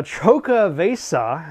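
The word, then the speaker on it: Xocoveza: This is their uh Choco Vesa, I believe is how you pronounce this. Exo C O V E Za for the holidays in the new year.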